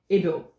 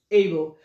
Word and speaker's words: Abel: a good guy yeah but it's not called evil please can you pronounce it again able able so imagine trying to call someone Abel Abel wait for me only for the person doctor to even turn back to look at who is calling because you're not pronouncing their words right okay so the right pronunciation is able all right so this